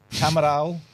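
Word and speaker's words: Camiral: After that 2031 it's going to Barcelona and Camaral formerly PG Catalunia. Good pronunciation.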